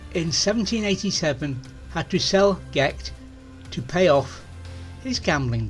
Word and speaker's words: Gight: Catherine Gordon married John Byron, but in 1787 had to sell Gecht to pay off his gambling debts.